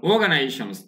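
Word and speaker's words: organisations: আছে অর্গানাইজেশনস উচ্চারণ দেখুন অর্গানাইজেশনস এখানে আর এর উচ্চারণটা হয় না অর্গানাইজেশনস মানে আরো অনেক যে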